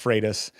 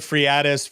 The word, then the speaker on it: Freitas: I, you know, I always tease, so my last name is pronounced Freighus. Um, Freus, but I've heard Friatis, Fredus, Freus. I mean, I used to